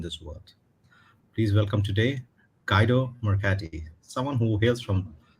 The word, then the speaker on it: Guido: We say in Italy Guido. I think originally Guido. is a German name, so it's simple as Guido. And in Italy we spell out every vowel, so it's a very singing language, and we say Guido. So it's like if you sing along, you will pronounce very well.